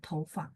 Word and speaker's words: 头发: Sebenarnya 头发 itu nada 4. 头 Pak, nada 4, tapi Tova rambut ya. Ada orang bacanya nada 5, Bu. Jadi aslinya hurufnya itu nada 4, Bu Lina. Tapi sistem beberapa materi itu dia bacanya nada 5, Tova. Pendek dan ringan, Tova, rambut ya. Harusnya Tova. Kalau orang Taiwan biasanya bilang Tova.